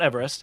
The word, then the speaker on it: Everest: is pronounced eve rest with the eve pronounced as the woman's name but everybody refers to